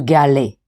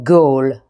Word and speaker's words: Galle: Today I'm taking you to Gali on the south coast of Sri Lanka or Gaul as some prefer to pronounce it.